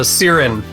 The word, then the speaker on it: Xiren: Yeah, well, almost no one pronounces the X like an S or a C, but it's an Irish name. My dad is a Dolphins Barn Dubliner, so it's an Irish name with a bit of a creative spelling, and the original Latin X as an S, so Xiren.